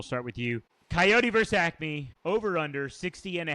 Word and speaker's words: Acme: Is it Acme?